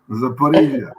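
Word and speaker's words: Zaporizhzhia: Do you think that the fact Russian army has repeatedly shot, I can't pronounce it, Zaporozhye, Stefano, Zaporozhye, no, I can't. The nuclear plant. Zaporizhia.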